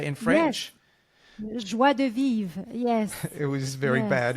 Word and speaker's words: joie de vivre: Joie de vivre, yes.